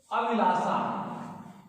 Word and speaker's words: अभिलाषा: जैसे अभिलाषा, अभिलाषा, ये देखिए अभिलाषा। तो इसे मूर्धा में लाना चाहिए जिह्वा के अग्रभाग को। यदि आप जिह्वा के अग्रभाग को मूर्धा पर नहीं लाए तो इसका उच्चारण गलत होगा।